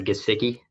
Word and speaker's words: Gesicki: Is that how you say Gesicki? I think hard G.